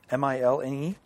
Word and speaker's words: Milne: covers by Alex Milne, M-I-L-N-E. Well, that's how the Winnie the Pooh guy pronounced it, so yeah, I'd say Milne.